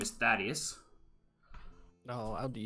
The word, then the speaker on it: Thaddius: sure you have questions firstly my name is Thaddius no I'll do spell that d h a d d e s